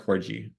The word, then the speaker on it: corgi: a corgi or a corgi uh Corgi I don't know someone typed in the chat one of those dogs Corgi with a hard G someone help me out